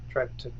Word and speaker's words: Trattoria: Trattoria.